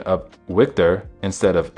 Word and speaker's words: Victor: decided that his Chekhov would pronounce a V like a W. Both Yelchin and Koenig knew that this was more Polish than Russian, but Yelchin didn't change it. His comedic pronunciation of Victor instead of Victor was